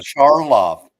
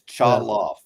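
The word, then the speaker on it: Chaloff: It's Chalof. C H A L O FF.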